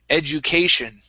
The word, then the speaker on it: education: Okay, and now this word here is pronounced education. So the stress is on that A here. So it's education.